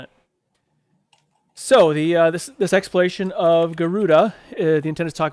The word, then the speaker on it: Garuda: So, but I guess someone said it's just pronounced Garud and not Garuda natively. So, I've heard it Garuda.